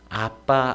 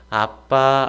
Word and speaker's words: 아빠: 가지는 기도하실 때 요 아빠 아버지 라고 부르셨습니다 아람어 아빠는 우리말로 아버지 아빠 입니다 발음도 이아람 을 그대로 누리가 따라하면 요 아빠 빠르게 하면 아빠가 됩니다 자녀가 아버지를 부르는